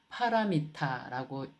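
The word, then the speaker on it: pāramitā: 그러니까 빨리어로는 빠라미라고 합니다. 그래서 요걸 빠라미라든지 빠라미타라든지 이제 빨리로는 빠라미타 그리고 보통 산스크리어터로 읽을 때는 파라미타라고 이제 이렇게 발음하게 되죠.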